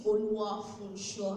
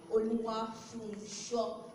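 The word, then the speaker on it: Oluwafunso: My name is Oluwa Funsho. She tried pronouncing the name. Oluwa Funsho. There is no H in the Funsho.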